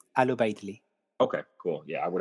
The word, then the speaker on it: Al-Ubaydli: oh yeah um now how do we pronounce your last name it's ALU Bley ALU Bley okay cool yeah I